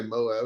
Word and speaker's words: MOAB: said just bury him how do you say that word well you could say moab it's an acronym moab and light the damn